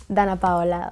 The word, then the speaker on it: Danna Paola: here with the beautiful Dana paa how is my pronunciation yeah good very good how do you say it Dan PA like that it sounds so much better when you say it